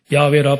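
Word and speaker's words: 야훼: 성경에 여호와 다른 교단에서는 순복음 교단에서는 야외라 그러는데 야외라 발음해도 되고 여호와라 그래도 돼요는데 자 하나님이 모세가 하나님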